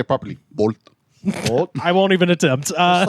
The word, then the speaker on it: Volt: This is Volt, and we actually have Or if talked. you want to say it properly, bolt.